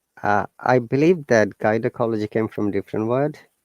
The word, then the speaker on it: gynecology: and logi sorry guys so that's why it is ga sound rather than sabji though there is y after it now so if the